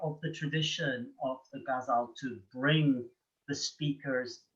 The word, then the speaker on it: ghazal: Ghazal, by the way, is pronounced differently in different languages. That's why it's so confusing. And I use the Persian pronunciation ghazal. But if it was the Urdu, you would say ghazal or something like that. And I think the English say ghazal, which sounds ridiculous.